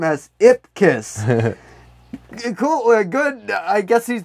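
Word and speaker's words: Ipkiss: you pronounce it yeah very distinct it's just pronounced name as ip kiss cool good i guess he's doing just say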